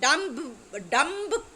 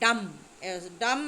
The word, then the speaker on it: dumb: कहू तेणु बी is silent तो बीटा आम उच्चारण करूना डम कहले आम कह डम्ब डम्ब इज रॉन्ग डम डम माने बी इज साइलेंट तो को आंसर टी